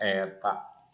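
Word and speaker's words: η: Nanti untuk semua efisiensi lambangnya ini dibacanya eta.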